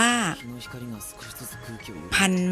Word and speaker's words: พันธุ์: อุ การันต์ นะ คะ อ่าน ว่า พันธุ์ ไม้ ค่ะ คำ ว่า พัน ไม่ มี ทอน ธง สระ อุ การันต์ ออก เสียง นะ คะ เรา มา